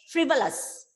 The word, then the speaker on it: frivolous: Okay, then next, frivolous. Gauri? Silly. Frivolous, frivolous, frivolous. There also you can see the schwa sound.